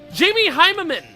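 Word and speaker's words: Jamie Hyneman: Jamie Heimerman. That's how you pronounce that.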